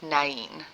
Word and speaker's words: Nain: So first of all, this is called, the city called Nain is how it's pronounced, which is the Greek, okay?